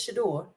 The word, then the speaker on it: Shedeur: I don't want quarterbacks like Shador Sanders now.